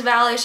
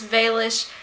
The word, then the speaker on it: Valish: pronounce it wrong because my last name is valish and every time somebody says Vish it kind of makes me die a little inside and so I'm